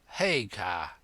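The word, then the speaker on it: Haigha: when he's happy his name's his name is hey car he pronounced it so as to rhyme with maya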